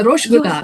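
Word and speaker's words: rasgulla: must have heard of rasgula. I think they pronounce it rogula, right? Ros gula. Yeah. Yeah. Yeah. Rosh gula. They say rosh gula.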